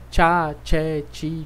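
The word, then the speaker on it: ciao: ócio mesmo som né tchau tchau só tem um cuidado para não forçar o som da letra aí então nós fizemos tchau tchau elofit Ok não tem que pelo menos na segunda eu não fiz som de ir muito forte né Eu não disse Cielo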